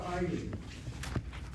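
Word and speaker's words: עַיִן: Ayin has two syllables, CV, CVC. You all see that? The patach is not being closed by neither dagesh chazak or shvana. It's open, syllable, short vowel, accented.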